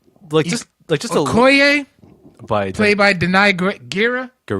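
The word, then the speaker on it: Gurira: Just Okoye, played by Denai Guerrera. Guerrera, is that how you really pronounce it?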